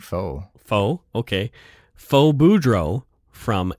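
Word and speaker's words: Phoe: And this one is spelled P-H-O-E. So is it Foe or Foe? I would think faux.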